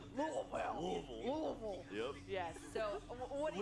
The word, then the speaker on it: Louisville: And he said, Louisville.